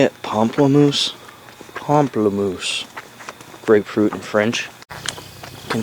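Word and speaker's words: pamplemousse: why not h that's how you say it pomplamoose pomplamoose grapefruit and French can Spike Lee just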